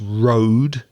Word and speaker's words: road: the pronunciation it's not road it's road the same sound as go or slow road is anything that